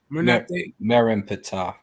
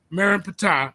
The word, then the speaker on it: Merneptah: How you pronounce that? Merneptah. Merneptah. Okay, yeah.